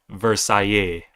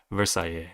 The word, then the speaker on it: Versailles: So, French here, so it's pronounced Versailles. Versailles.